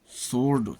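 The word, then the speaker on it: sword: W silent W आर या डब्लू एस डब्लू में डब्लू प्रायः साइलेंट रहता है, जैसे रैप लपेटना, रिस्ट कलाई, रैक छती, राइट लिखना, आंसर उत्तर, सोर्ड तलवार।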